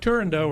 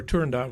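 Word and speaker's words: Turandot: Turando or Tandot was the last big opera that we do and you can pronounce it either way.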